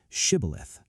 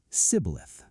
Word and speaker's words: shibboleth: 42,000 men dead at the Jordan fords because they mispronounced a single word, shibboleth. They said sibboleth.